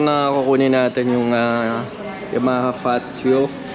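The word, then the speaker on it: Fazzio: So yun na yung motor na kukunin natin, yung Yamaha Fazio. Paano ba pronounce niyan, bro? Pacho? Pacho, kasi ano, Italian.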